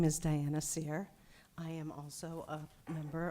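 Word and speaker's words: Cyr: Good evening. My name is Sear. It's spelled C-Y-R.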